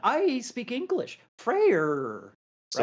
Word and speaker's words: Freyr: Freyr coming in, or as you like to say, Frey with your Danish pronunciation. No, I say Frey Frey. against I say Hades. Frey like an Englishman would say Frey. What do you mean, like an Englishman? There's an R on the end.